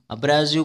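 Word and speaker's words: abrasive: next है अब्रेसिव, अब्रेसिव को pronounce कैसे होता है, अग्रेसिव के जैसा, और अग्रेसिव बिहेवियर क्या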